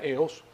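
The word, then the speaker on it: ἕως: Se pronuncia eos o geos porque tiene una respiración fuerte.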